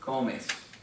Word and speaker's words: comes: Be sure to put the accent on the first syllable. Comes.